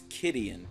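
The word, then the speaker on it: Kytheon: Gideon Jura you were cyon yora however you pronounce that according to Clues it's kidan cuz it's kid Gideon a 13 10-year-old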